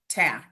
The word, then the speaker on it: Wotjak: It's It's Polish and it's pronounced Ytac. The letters don't go Yeah, the letters don't go together like they're supposed to, but yeah.